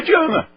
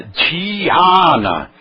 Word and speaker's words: Dhyana: Ah, meditação não é Diana. É Dhyana.